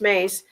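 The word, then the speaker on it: Myss: MSS is is pronounced Mace.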